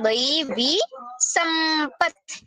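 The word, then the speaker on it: দৈবী সম্পদ: কি দী সম্পদ কেন কারণ সম্পদ এখানে হচ্ছে অসন্দ চিহ্ন আছে যার কারণে আমি সম্পূর্ণ উচ্চারণ করতে পারি না সে কারণে আমি অর্ধ উচ্চারণ করব উচ্চারণটা হবে এমন দইবি সম্পদ এরপরে চার করে গেল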